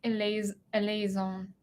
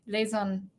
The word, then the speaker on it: eleison: Eleison. I don't think I'm saying that right. Eleison, I think.